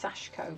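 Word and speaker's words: sashiko: that it uses that they pronounce its sashko but sachiko that's how it's spelt and yeah that always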